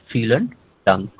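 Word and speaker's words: vielen Dank: or thank you is feel dunk feel and dunk. This I pronounces e feel and dunk coming for thank you so much.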